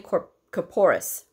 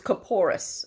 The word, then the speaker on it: corporis: All right, number 4, give 3 examples of a minimal problem: cold, insect bite, and tinea corporis. See, I did say it wrong before. It's corporis, all right?